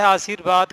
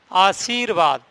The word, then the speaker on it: आशीर्वाद: उदाहरण के तौर पर जैसे देखो, शब्द है आशीर्वाद, कई बार परीक्षा में भी आ चुका है। आशीर्वाद, अभी मैंने रा नहीं लगाया है, आप इसको ढंग से उच्चारित करके देखिए।